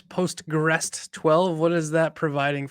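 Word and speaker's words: PostgREST: I can never pronounce postrest 12 what is that providing for you guys yeah so postgress uh so this is like postgress but with a tea on the end uh and so uh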